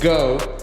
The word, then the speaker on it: geaux: using the promo code go but that's spelled in the Cajun French style just like my Channel That's go spelled g e a x I'm going to